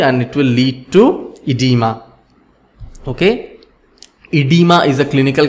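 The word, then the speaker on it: oedema: edema is pronounced as edema even if o is there it is silent okay so remember colloidal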